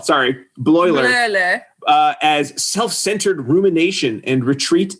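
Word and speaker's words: Bleuler: He might have taken a day off, but it's Bloiler, by the way. Bloiler, thank you, Alan. Bloiler. Oh, geez, it's not an I, it's an L. Sorry, Bloiler.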